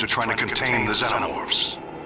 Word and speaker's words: xenomorph: It's pronounced xenomorph. Stop pronouncing it wrong.